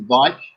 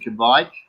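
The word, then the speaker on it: Kveik: So is it Vike or Kivek or Kevek? Depending on how you pronounce it. I pronounce it Vike. Some people pronounce it Kvike.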